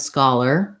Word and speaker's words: scholar: So paper and scholar, same sounds at the end.